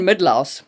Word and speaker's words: Mydlar: But Jan Midlaus, by the way, check the spelling on that name.